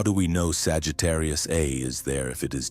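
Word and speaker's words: Sagittarius A*: Our own supermassive black hole is named Sagittarius A, pronounced A star.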